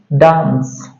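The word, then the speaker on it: dance: एन सी ई है तो इसको हम पढ़ेंगे डांस क्या पढ़ेंगे इसको डांस हम पढ़ेंगे डी ए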